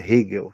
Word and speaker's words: Hegel: não, a pronúncia correta é Hegel, tá? A pronúncia correta é Hegel?